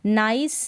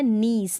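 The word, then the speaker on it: niece: यहाँ पर इसको नाइस ना पढ़ें, ये है नीस। नीस का मतलब भतीजी, इसको नीस पढ़े ना कि नाइस।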